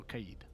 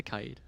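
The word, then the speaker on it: Kaid: need yes I do you say Kato keyed I say Kade yeah I think that's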